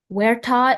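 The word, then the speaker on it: huerta: Werta is a portion of highly cultivated land in Spain as for an orchard.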